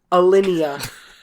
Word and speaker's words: Alinea: Alinea.